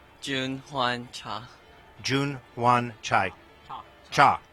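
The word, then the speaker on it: Cha Jun-hwan: got to work on me how do you pronounce exactly your name Jun Juan cha Jun Juan chai cha cha okay I'm not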